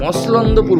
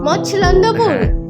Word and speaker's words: মছলন্দপুর: হচ্ছে মসলন্দপুর মসলন্দপুর মসলন্দপুর এইখানে এই ব্যাপার যে সবাই মসলন্দপুর বলে এই উচ্চারণটাই সবাই ঠিকঠাক ম এর পর ছ আছে ছ ছ মসলন্দপুর আচ্ছা মসলন্দপুর গাইজ তো